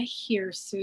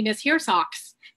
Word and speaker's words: Hiersoux: really easy to pronounce it's pretend like you're calling a girl named sue come here sue so my name has